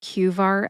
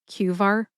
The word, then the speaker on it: QVAR: By the way, I just call it cqar. I typically drop that second word readyh hailer in conversation. However, the true name, the full name is cuar readyhailer.